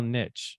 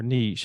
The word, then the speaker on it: niche: as the stem cell Niche or Niche however you like to pronounce that I say Niche um and so that's